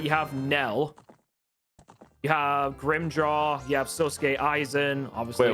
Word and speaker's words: Grimmjow: Well, his name is spelled Grimmjow, so Grimjaw.